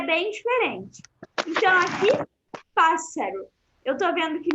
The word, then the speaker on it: pássaro: Eu tô vendo que no espanhol também tem o acento na primeira sílaba, porque a primeira sílaba é a sílaba mais forte, e aí fica pássaro, certo? Então, atentar a essas duas coisas na palavrinha pássaro.